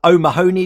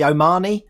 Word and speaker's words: O'Mahony: So I called someone O'Mahony the other day when it's supposed to be Omani. I should have known that.